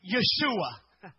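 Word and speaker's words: ישועה: salvation of the Lord if you look up this word in the Hebrew text salvation it is pronounced as Yeshua does that sound familiar if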